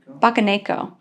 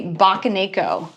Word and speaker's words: Bakeneko: Bakeneko. It is pronounced the Bakeneko Plush.